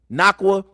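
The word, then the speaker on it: Nacua: led them in receptions his name is hard to pronounce but it's nakwa 15 receptions 147 receiving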